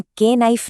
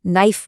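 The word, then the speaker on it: knife: जैसे नाइफ में के साइलेंट है। हम के नाइफ नहीं सिर्फ नाइफ बोलते हैं।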